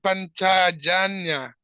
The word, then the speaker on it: Panchajanya: After doing this, Krishna blew his conch shell, how do you pronounce it? Panchajanya.